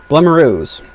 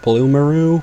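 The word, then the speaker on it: Blumaroo: Blemiroos. I think it's pronounced Bloomaroo, but I like Blemiroo. I'm going to call it Blemiroo.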